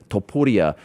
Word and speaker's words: Topuria: It's one thing for me to sit here and be like, okay, it's actually Ilia Topuria, but you're saying that like, how does that happen?